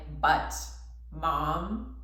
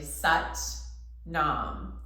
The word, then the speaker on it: Sat Nam: nam classic kundalini mantra sounds a little bit like butt mom but it's actually such nom it's spelled s-a-t-n-a-m and it means truth